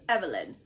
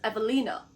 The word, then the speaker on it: Evelina: That's how that is pronounced. It's Polish.